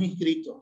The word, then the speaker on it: inscrito: Y allá en Argentina dicen transcripto con P y lo escriben, pues que también lo pronuncian, o inscripto. En cambio en Venezuela no decimos eso, decimos inscrito sin P y ni siquiera la pronunciamos.